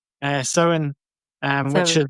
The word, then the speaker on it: Samhain: I mean, last year Paul and I were having multiple conversations about how the hell you even pronounce it, but finally settled on sin, um, which is like